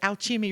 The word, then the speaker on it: Alchemy: She goes, "Well, I remember it because Alchemy rhymes with Applebee's."